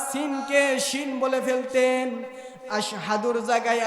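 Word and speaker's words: أشهد: আশহাদুর জায়গায় আসহাদু উচ্চারণ করে ফেলতেন।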